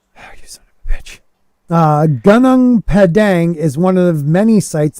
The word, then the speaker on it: Gunung Padang: yourself really am I saying it right okay gunung Padang is one of many sites like gunang Padang and G gunang Padang was definitely built by